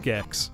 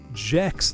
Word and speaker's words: Gex: They were looking at the N64 games, I believe, and they looked at Gex on the N64 and they said Jex the Gecko. They pronounced it like a J, that G.